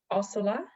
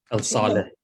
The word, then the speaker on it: Al-Saleh: We're going to have on, I just realized I don't know how to say Noor's Al-Salah. Al-Saleh. There you go.